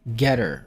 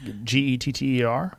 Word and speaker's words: Gettr: alternative oh no about getter yeah no it's it's uh been waiting for one though yep so i'm using getter at rw malone md is it spelled like g-e-t-t-e-r g-e-t-t-r so getter is it is explicitly